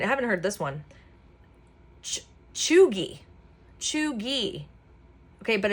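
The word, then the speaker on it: cheugy: Chooi. Chooi. Okay. But it's spelled C H E U G Y but it's pronounced as cheooy is used to describe something which is cringe,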